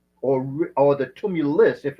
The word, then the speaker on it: tumulus: word I say Google you spell it t tuu m u l u s tumulus okay and the plural is tumuli t m Uli these are earth created